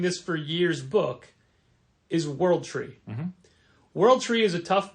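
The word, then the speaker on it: W0RLD TR33: for years book is world tree world tree is a tough book to look up because the O is a zero and the E's are threes so it's pronounced world tree but it's spelled w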